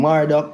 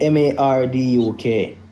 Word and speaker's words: Marduk: Hey, Jack, can you look up um Marduk, the god of Babylon?